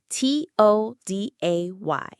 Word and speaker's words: today: The stress is on day, today. So the first syllable, to, is weak. We don't say to-day with a big round O sound. We reduce it. We weaken it. It becomes a schwa.